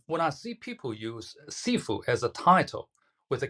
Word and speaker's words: Sifu: Cantonese, Sifu, Mandarin Chinese, shifu.